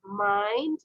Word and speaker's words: mind: আচ্ছা, এটা হবে মাইন্ড। তোমার উচ্চারণে বলেছো meant, not meant, it's মাইন্ড, মাইন্ড, মাইন্ড।